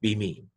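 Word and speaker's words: בימין: But the word is pronounced be mean.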